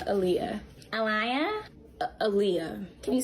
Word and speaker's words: Aaliyah: Aliyah, is it? Yes, I'm Aaliyah.